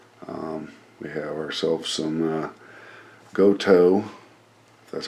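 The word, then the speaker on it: Gotoh: the headstock hardware um we have ourselves some goto that's how you pronounce it uh sg38 tuners don't know what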